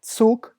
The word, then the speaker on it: Zug: Eu já vi muitos brasileiros que chegavam na Alemanha e falavam Zug, Zeit, Zeugnis. E eles podem até entender, mas está errado, muito, muito errado. Eles podem até falar, você quis dizer Zug, Zeit, Zeugnis? Tem que ser tss, tss, tss mesmo.